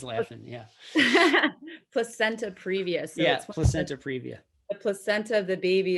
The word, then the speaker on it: placenta previa: question is is and i'm probably going to mispronounce this what i think you said is plicata previa yeah so she's laughing yeah placenta previously yes placenta previa the placenta of the baby is lying a